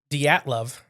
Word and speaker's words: Dyatlov: The Dyatlov Pass incident.